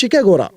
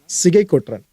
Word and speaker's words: சிகை கொற்றன்: இது ஆக்சுவலாக ஷிகேகோரா அப்படின்ற மாதிரி தான் அவங்க டிரான்ஸ்லேட் பண்ணும்போது புரிஞ்சுக்கிறாங்க. பட் நமக்கு தமிழ் நல்லா தெரியும்ல, அதோட உண்மையான உச்சரிப்பு பார்த்தீங்கன்னா சிகை கொற்றன்.